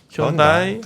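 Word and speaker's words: Hyundai: 마크 때문에 에다가 이제 발음도 우리는 뭐 다르지만 미국에서는 현다이 혼 르니까 근데 이제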